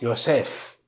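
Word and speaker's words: יוסף: And the meaning of Joseph, in Hebrew you pronounce Yosef.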